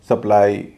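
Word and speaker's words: supply: इसी तरह सप्लाई, DeFi, इन सब में वाई का उच्चारण आई ही होगा क्योंकि ये सारे वर्ब हैं और स्ट्रेस दूसरे हिस्से में पड़ रहा है।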